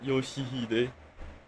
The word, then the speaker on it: Yoshihide: 요시드라고 읽는 거다. Yoshihide.